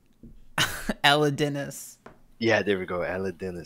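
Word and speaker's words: Elidinis: what robes are these pop quiz i know elidians elite ropes i know my runescape come on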